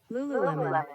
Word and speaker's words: Lululemon: Was I saying it right? Lululemon.